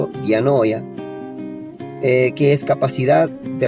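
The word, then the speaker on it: διάνοια: Mente es dianoía o diano es así se pronuncia del griego, dianoya, eh, que es capacidad de razonar, pensamiento profundo, intención.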